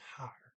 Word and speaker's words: her: next sentence remember that the word here h-e-r is pronounced higher it's one thing is